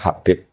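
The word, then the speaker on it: حبيب: Itu di harakatnya kitab itu ada yang nulis Hubab. Tapi yang benar Oh, nggih. Yang benar itu bacanya Habib.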